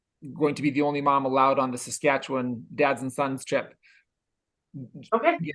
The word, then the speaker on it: Saskatchewan: Also, you're still way too many syllables in Saskatchewan. No. Oh, that's right. Just Saskatchewan. Yeah, and Kelly, you're doing okay, but Corey, he's hitting every letter.